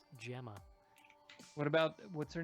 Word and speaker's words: Gemma: episode where I learned that that name is pronounced Gemma what about what's her name sorry sorry Sasha